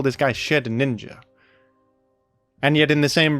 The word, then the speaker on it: Shedinja: As far as Z U ranked Pokémon goes, Shedinja is probably among the most well-known and the most celebrated for its truly one-of-a-kind identity.